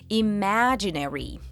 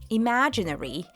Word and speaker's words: imaginary: In American English it's usually more separated, imaginary, imaginary. But in British English the second half of the word is often pronounced more quickly, almost like imaginary, imaginary.